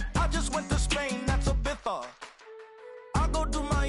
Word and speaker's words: Ibiza: I just went to Spain, that's Ibiza. Ibiza, yeah, it's pronounced Ibiza, actually.